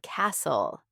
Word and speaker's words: castle: Or think about silent letters in words like island and castle. Why is there an S in island if we don't pronounce it?